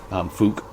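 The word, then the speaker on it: Fouke: It's F-O-U-K-E, Folk Monster. Fook Monster, I think it's Fook.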